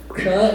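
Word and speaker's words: क्ष: A lot of people pronounce kra in several different ways, but kra is k with the sha, that's the murdhanya. So those two put together.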